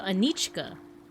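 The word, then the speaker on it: Anička: So C with a with mark above it. How do I pronounce that? A Kon with Kon in Slovakian. This is a What is this? Oh, it's like ch. Okay. So, Anichka.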